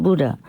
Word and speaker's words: Buddha: Buddha is a Sanskrit name and is pronounced Buddha, but in Vietnam they